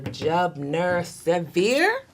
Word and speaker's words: Jubner Severe: Jubner Severe. Good morning. Did I say it right? Yes, you did.